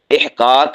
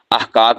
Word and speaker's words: احقاق: احقاق حق۔ احقاق حق، احقاق یہ عربی زبان کا لفظ ہے، ہم اسے بسا اوقات احقاق بول دیتے ہیں، اور اس کا مطلب کیا ہوتا ہے؟